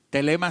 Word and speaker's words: thelema: Telema se escribe t h e l e m a.